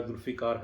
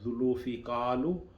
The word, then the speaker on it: Zulfiqar: जब उसने मेरा नाम पूछा, मैंने बताया जुल्फ़िकार, तो उसने कहा जुल्फ़िकालू। तो मैंने कहा नहीं जुल्फ़िकार, ओ जुल्फ़िकालू। तो मुझे अंदाज़ा हो गया